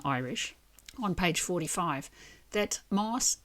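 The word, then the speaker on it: más: on page 45, that moss is pronounced with a slender s before third person pronoun. So, because they're beginning with a slender vowel, I would guess. So, it becomes a sh sound on the end of the word.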